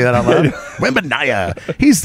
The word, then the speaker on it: Wembanyama: Victor Wembanyama, I believe is how you say his name. I'm going to say that out loud. Wembanyama.